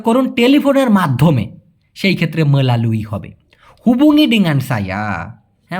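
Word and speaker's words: melalui: মেলালুই, এখানে রস্যই না দিয়ে অন্তস্থায় রস্যি দিলে আরও উচ্চারণটা ভালো হয়, মেলালুই, এরকমটা মাধ্যমে।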